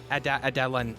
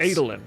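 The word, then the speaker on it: Adolin: But the What about the the uh uh Adelan? Uh what did you say his name was? The guy the the son the son of the prince Adelin.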